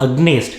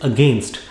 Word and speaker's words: against: noticed is that a lot of south indians mispronounce it is not agnes it is against i am against the person x i'm not